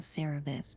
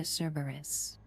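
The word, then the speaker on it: Cerberus: I need to pronounce that name. I keep saying Cabus, but that's not the way to say it. I'm handing you to Cberus.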